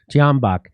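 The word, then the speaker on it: Tyahnybok: Tianbach.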